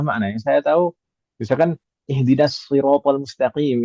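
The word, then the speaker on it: اهدنا الصراط المستقيم: Yang saya tahu misalkan ihdinasiratal mustaqim itu kan pakai shad ya. Iya. Ada qiraah yang membacanya pakai sin dan pakai zai. Ihdinasiratal mustaqim. Ada juga yang pakai zai ihdinaziratal mustaqim.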